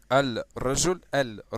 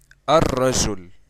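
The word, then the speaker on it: الرجل: So instead of saying al rajul, which is wrong, I'm going to say ar-rajul. Okay, ar-rajul. So as you can see, we skipped that letter, and we pronounced the letter which is right after it, and we doubled it as well.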